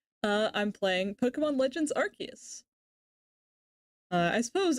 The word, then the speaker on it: Arceus: Uh I'm playing Pokemon Legends Archus. Uh I suppose in Japanese it's actually pronounced Arcus.